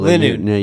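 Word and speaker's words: Linoone: pronunciation. No. Zigzagoon. Oh, Evolves into Lin- Linoon.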